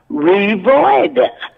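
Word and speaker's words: Revoyda: and you say Revoida, the next line is what? In other words, what did you say? Well, you got to spell it. It's spelled exactly the way it's pronounced. R-E-V-O-Y-D-A-D-A. Revoida.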